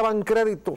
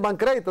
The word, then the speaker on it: Bancrédito: ¿Por qué se escribía Bancrédito? ¿Te acuerdas? Banco Nacional de Crédito, sin acento. Porque está bien. O sea, no tiene que llevar acento, pero no lo pronuncien Bancrédito, digan Bancrédito.